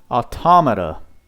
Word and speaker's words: Automata: know what we're gonna look up how to pronounce that right now automata automata that's how you pronounce it so the